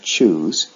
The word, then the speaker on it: choose: If you look at the base form of choose, there is an E at the end of the word. However, this E does not have a sound of its own.